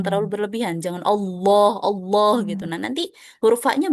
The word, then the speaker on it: Allah: Cara bacanya Allah. Allah. Jangan Allah. Bukan. Bukan Allah ya. Bukan ke Allah gitu ya. Jangan terlalu tebal. Allah ya. Tebal dia. Dia tebal tapi jangan terlalu tebal. Jangan terlalu berlebihan.